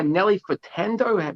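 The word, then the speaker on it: Nelly Furtado: by rod stewart zodiac uh man eater by nelly fertando that's how you say her name and how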